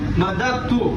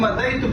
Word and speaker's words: مددت: سب سے پہلا جو لفظ ہے مددت، جو کہ ہم مدیت پڑھتے ہیں بالکل غلط ہے.